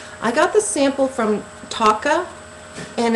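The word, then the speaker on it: Tocca: So again, this is from Taka, I believe you pronounce it, T-O-C-C-A.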